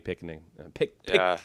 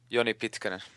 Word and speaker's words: Pitkanen: Much like Joni Pikkanen. Say his name so I can say it right. Joni Pitkanen.